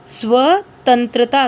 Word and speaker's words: स्वतंत्रता: Next word है स्वतंत्रता। देखो बच्चों, जो वर्ड आधा होता है हम उसका उच्चारण भी आधा ही करते हैं, जैसे देखो स्व, स आधा स व, स्वतंत्रता।